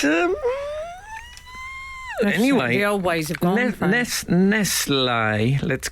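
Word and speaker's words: Nestlé: let's call them uh eventually they became Nest I think they just thought the English people won't get nestler if we put an accent on the E they won't buy it yeah um they own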